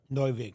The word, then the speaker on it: Neuvig: is it Newvig or Newig? Neuvig. Neuvig. Okay, I want to make sure I pronounce.